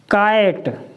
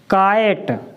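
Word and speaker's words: KITE: और ई तो मैंने आपको पहले भी बताया है, ई हमेशा अगर किसी भी शब्द में लास्ट में ई आता है वो साइलेंट रहता है, उसका कोई उच्चारण नहीं होता।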